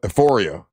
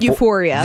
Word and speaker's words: Euphoria: So do you guys watch uh Euphor Ephoria? How do you say it? Am I saying it right? Euphoria.